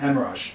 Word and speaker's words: Emerage: As far as we know, we pronounce it an emerage. Emerage. Yeah, the way someone with a British accent would say hemorrhage.